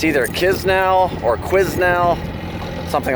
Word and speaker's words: Quesnel: Quizznell or Kisnell. Quizznell. Yeah. See? That's what it says. It's not what you said at all. You said Quizly, like it had a Y in it.